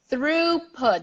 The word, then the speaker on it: throughput: okay yeah so the the toughest part is the r o u g age really tough here and also the stress that is at the beginning throughput throughput I'm gonna